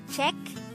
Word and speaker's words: 책: Korean noun for book the word check is composed of just one syllable which is formed from the combination of the sounds of chia a and Kyoko and is that